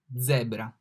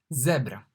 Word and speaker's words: zebra: Z, zebra. The Z is pronounced like Z in zen, zen, zebra.